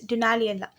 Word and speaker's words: Dunaliella: Last video நான் நிறைய வாட்டி சொல்லியிருப்பேன் Dunella சொல்லிட்டு the correct pronunciation is Dunaliella.